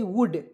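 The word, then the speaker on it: would: कुड लिखे थे तो इसमें एल को साइलेंट किए थे यहां भी एल को हम लोग साइलेंट करेंगे वुड मींस क्या होता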